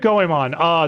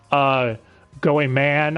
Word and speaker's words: Goemon: Oh, speaking of Goemon, they do not know how to pronounce his name, real quick, before we go on. Goemon, Goeman, I heard a couple of times.